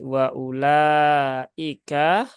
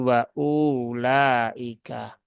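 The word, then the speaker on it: وأولئك: Bahwa di lafadz wa ulaika di sini U-nya terbaca satu harokat saja ya. Jangan dipanjangkan menjadi wa ulaika.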